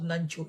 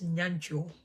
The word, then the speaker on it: Nyancho: Mama, the one, it's not Nancho, it's Nyancho. Nancho, the one they want to pronounce to them. Nancho, la dewa. It's Nyancho. Nyancho.